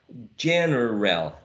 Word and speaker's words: general: last example we have General General but uh using only two syllables how do you pronounce